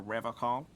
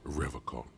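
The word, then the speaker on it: Revachol: He pronounces Revocol with a hard K, unlike other people. Indeed. You said Revocol? I like to pronounce it the hard way.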